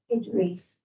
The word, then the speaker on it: Edrese: But her name is Idris. Huh? Idris. Hansel. Spell that, please.